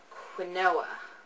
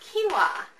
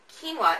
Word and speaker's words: quinoa: and my favorite whole grain is one called quoa is that how you say that quoa no it's actually pronounced quinoa quinoa is my favorite whole grain this is the